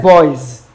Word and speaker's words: boys: Soul, boys, cell, loose. So the answer is boys, boys. The S there is pronounced Z, boys.